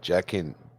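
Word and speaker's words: Jaqen: Oh yeah, you could say it this time, Jackin. Jacquin. No, not even Quinn, because you can't even pronounce the Q like that. UN. It's just Jackin. Jacquin.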